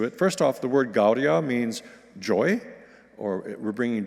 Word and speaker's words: Gaudia: Gaudia, Gaudia is how we will pronounce those first two words, but the rest is pretty straightforward.